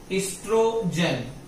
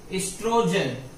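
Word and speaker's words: estrogen: है जिसका नाम है इस्ट्रोजन। ओ यहां पे साइलेंट है, ठीक है। इस्ट्रोजन, यहां पे एक हार्मोन रिलीज होता है इस्ट्रोजन नाम का।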